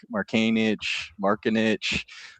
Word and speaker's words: Marcanic: different, and he's like, oh yeah, no one knows how to say it right. It's like Marcanic. He's like, it's Marcanic.